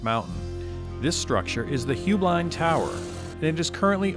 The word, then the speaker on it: Heublein: Or is it Heublein Tower? There's actually three pronunciations. Heublein is the family, Heublein is the business, and the actual correct Bavarian pronunciation is Heublein.